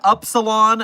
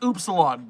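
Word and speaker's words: upsilon: It was actually pronounced oopsilon. The translators all say so.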